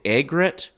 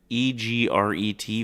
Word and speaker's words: egret: she was struck by a snowy, is it egret? E-G-R-E-T for a bird? Egret? Do you know how to pronounce that bird's name?